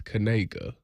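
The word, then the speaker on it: Kniga: Was this linebacker that's that's at Eastern Michigan whose name is Noah, but his last name is Kanega, but it's spelled K N I G A.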